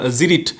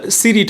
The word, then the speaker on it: Cirit: Bangladesh এয়ারফোরস by additional জিরিট এটা সিরিট হবে না সি আই আরইটি তো এটা জিরিট উচ্চারণ লেজার গাইডেড মিজাইল ফ্রম